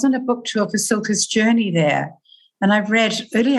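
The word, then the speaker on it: Cilka's Journey: Then Silka's Journey. Did I pronounce that right? Silka's Journey? Yes. Silka's Journey.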